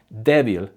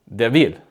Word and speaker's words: débil: Or instead of saying débil, they might say débil.